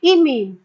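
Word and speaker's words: imine: लेकिन कार्बन के साथ अगर डबल बॉन्ड से NH आता है तो इस ग्रुप को बोलते हैं आई से प्रोनाउंस करते हैं इमीन।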